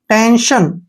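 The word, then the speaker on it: tension: ये ध्यान से देखना है, यहां पर जब भी टी के बाद आई ओ एन आता है तो ये जो है यहां से टी आई ओ एन, इसको हम शन, शन पढ़ेंगे।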